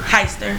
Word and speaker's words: Heister: Do you pronounce her last name Hister or Heister? Heister.